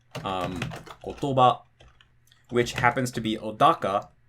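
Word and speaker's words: 言葉: you have to basically count the syllables and go kotoba, okay, it's after the ba.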